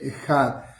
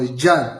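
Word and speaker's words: אחד: Yahwe eloje Yahwe ejad o yad también pronuncian algunos con la J francesa.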